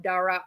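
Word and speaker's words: Daraa: It's an extra A, but you cut it off like half in the middle.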